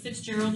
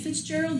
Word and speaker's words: Fitzgerald: And so the other day, is anybody familiar with Fitzgerald, Georgia? Yes. I was calling it Fitzgerald, but apparently that's not how you say it.